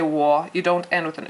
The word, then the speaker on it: 我: And 我 is said like how you say whoa. But when you say whoa, you start with an u, o, u. But when you say 我, you don't end with an u.